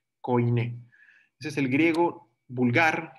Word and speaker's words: koine: El Nuevo Testamento se escribe todo en griego koine con K, koine.